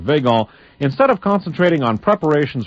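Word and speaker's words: Weygand: men like petan and veon w y g n d instead of concentrating or it might be won I'm not sure but uh I'm going to pronounce it veon instead of concentrating on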